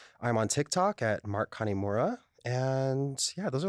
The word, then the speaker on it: Kanemura: Instagram at mkik808 I'm on Tick Tock at Mark connemura and yeah those are like the two platforms that I use I'm pronouncing it wrong when I say catanura it's connemura kanemura yeah like Connie you didn't you you actually